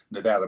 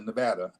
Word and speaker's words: Nevada: first thing I did when I moved to Nevada by the way I come from aate where pronunciation matters it's Nevada not Nevada Nevada you